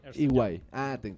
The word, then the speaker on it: EY: Se unió a ¿cómo lo pronuncias? EY.